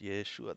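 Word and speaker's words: ישוע: that is joshua whose name was also said yeshua after the exile to babylon his name was pronounced yeshua that was the pronunciation of the name in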